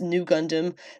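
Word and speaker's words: Nu Gundam: heavily based on Amur arrays RX 93v Gundam pronounced new Gundam that appears in the Mobile Suit Gundam Char's counter-attack film debuted in fukuoka's mitsui shopping park lalaport in 2022.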